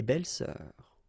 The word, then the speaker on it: belles-sœurs: Same rule here, S and S, but you don't pronounce it. Une belle-sœur, des belles-sœurs.